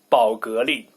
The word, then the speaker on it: 宝格丽: But anyway, I would pronounce it Bulgari. But in Chinese, it's 宝格丽.